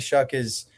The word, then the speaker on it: Shough: Is it Tyler Shough? Hey. You would be better than me. Hey, this is my guy. Okay, yeah, I got it. This is Tyler Shough.